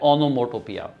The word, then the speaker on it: onomatopoeia: इसका प्रोनाउंसिएशन है ओनोमोटोपिया।